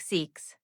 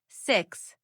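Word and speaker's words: six: Say the word 6. If you are smiling, you are saying it wrong. It sounds like seeks. Relax your face. Drop your jaw a tiny bit. 6.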